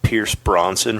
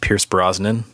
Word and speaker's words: Pierce Brosnan: 2 they uh casted pierce bronson for cable pierce brosnan yeah god bless your mispronunciations yeah double oh seven